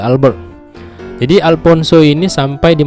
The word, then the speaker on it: Albuquerque: ya Alfonso de Albuquerque Kalau tulisannya di situ Albuquerque Tapi bacanya Alfonso De Albert jadi Alfonso ini sampai